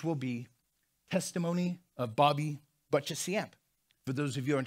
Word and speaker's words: Boccheciamp: from death to life my name is bobby butchesyamp how do you say that just don't i'm